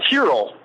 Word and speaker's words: Tyrrell: He goes by Tyrrell. Oh, see, I wasn't even close. Yeah, Tyrrell is the way it's pronounced.